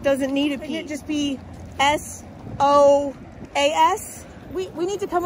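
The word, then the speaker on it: psoas: and I was like it's so as muscle but it's spelled with a p because apparently the person that put that in the dictionary had a little you know a few too many and decided to put a p in front of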